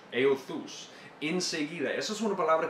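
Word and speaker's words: εὐθύς: Esa es una palabra en griego que se pronuncia euthus, euthus.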